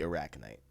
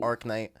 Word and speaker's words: Arachnite: With me, of course, my luxurious co-host, the Arachnite. I'm gonna say it right this time. I keep saying Arknight. Arknight is it's not phonetically correct.